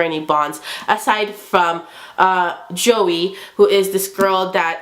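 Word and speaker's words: Joi: beacon of hope for flick and it's it's joey spelled like j-o-i and he's he has this whole spiel about it how it's like joey you know it's pronounced as j-o-e-y but it's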